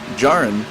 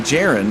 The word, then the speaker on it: Jarin: And there we have the 009 of Vincent Jarin. Got corrected on that name tonight, folks. I've been saying Jarin. It's Jarin.